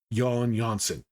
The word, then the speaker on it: Jan Jansen: for my first video, Jan Jansen. Yes, that's how you pronounce his name. Those J's are pronounced with the ya sound. Jan Jansen is a strange character.